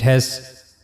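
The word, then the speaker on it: هاء: So for pronouncing ha we have to use the lowest part of the throat which is on the chest side.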